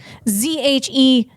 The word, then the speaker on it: Zhejiang: Or if you want to pronounce it correctly out loud, Zhejiang.